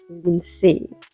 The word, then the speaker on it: Lindsay: name is Lindsay actually because my name is French my name is LIN I do love the pronunciation in French when it's done correctly some people call me Lindsay in French and in English um in French I prefer Lin there is no d in my first name I don't know